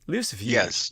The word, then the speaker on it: Lucifuge: By the way, tell us how you pronounce Lucifuge. Am I saying that correctly? Lucifuge.